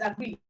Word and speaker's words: agree: So just know that your stress is on agree.